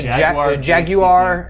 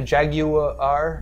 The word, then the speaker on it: Jaguar: with a with a Jaguar a j a Jaguar Jaguar yeah Jag pronounce it like they pronounce it in the Jaguar Jaguar in the commercials for the cars they say every syllable of of the Jag